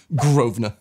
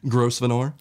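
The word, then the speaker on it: Grosvenor: in character for me I heard her pronounce it correctly and went what do you mean groa did you mean gross venor what it's not there's an S that's silent yeah if a British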